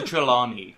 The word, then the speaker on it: Trelawney: lady hippy no not you Mase okay professor Trelawney there is how you say it I forget